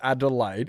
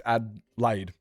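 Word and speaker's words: Adelaide: Yeah, it's not Adelide. It's Adlaid. Adlaid.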